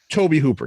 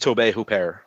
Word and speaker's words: Tobe Hooper: Tobe Hooper.